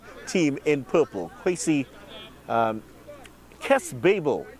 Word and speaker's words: Babel: Kwesi Kes Babel, or Babel, correction, is going to be taking this one. Second person I know with the first name Kes. Second person I know with the last name. But he pronounces his name differently. That's Babel, in fact.